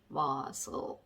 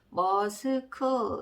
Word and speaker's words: muscle: S랑 C랑 이렇게 붙어 있을 경우에 C가 묵음인 경우가 있다. 여기에서는 C가 묵음이 되겠습니다. 자, 그 다음에 리을 밑에 LL 밑에 리을자 적어주시면 되고요. 자, 합해서 조합을 해보시면 어떻게 읽게 되죠? 머스 이렇게 되겠죠. 머스크 이렇게 너무 읽고 싶은데 그렇게 읽으시면 안 되고, 머스 이렇게 읽게 되겠습니다.